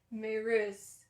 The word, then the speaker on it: Maryse: spelt maurice by the way it's but it's pronounced manros it's specifically mentioned in the book that it's pronounced this way maris is suspicious of jace and thinks that he's